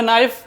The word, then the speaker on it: knife: के silent, KNOC के, English में नॉक, हिंदी में नॉक यानी दरवाज़ा खटखटाना। KNIFE, इंग्लिश में नाइफ, हिंदी में नाइफ यानी चाकू जिससे हम सब्जी और फल काटते हैं।